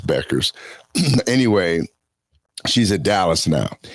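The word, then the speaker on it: Bueckers: I pronounce it Bucher, but uh but they they they say it's Beckers.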